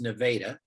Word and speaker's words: Nevada: called nevada which is spelled like nevada but pronounced nevada and you told me that you're just about